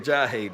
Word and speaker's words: Ajayi: AJ Ajayi, that's how you say it, man.